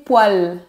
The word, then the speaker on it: poêle: En fait, la prononciation est identique au mot poil, P-O-I-L, pour les poils de la barbe, par exemple.